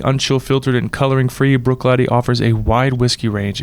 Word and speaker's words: Bruichladdich: of Glenfiddich I love Bruichladdich and it is pronounced Bruichladdich for those wondering and then am wrote so